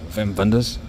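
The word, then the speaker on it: Wim Wenders: like this film called Wings of Desire by wiim wers or how the Germans pronounce it the correct way Vim venders just another day in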